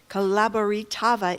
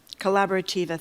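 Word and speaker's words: Colaborativa: to fight for justice and to la corab Calabaritava in Chelsea. I'm mispronouncing that. I'm sorry. But it is a great uh grassroots organization over there in Chelsea. They helped a lot during the the pandemic. Collaborativa.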